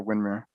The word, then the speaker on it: Windermere: But it is pronounced out here, Windmere. Okay, but spelled the same.